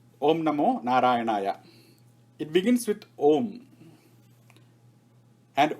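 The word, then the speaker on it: ॐ: narayanaya it begins with om and om has got four syllables the first one is ah the second one is oo and the third one is ma and what is the fourth when you say um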